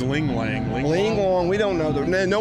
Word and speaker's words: LiuGong: I don't know how do you pronounce that. I have no idea. Liugong.